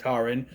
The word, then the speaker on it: Taran: And we meet our hero Tarin, spelled like Taran, but it's pronounced Tarin, who lives with Dolbin.